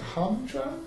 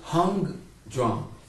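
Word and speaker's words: Hang drum: Humdrum? Hung drum. Hung drum. How do you spell that?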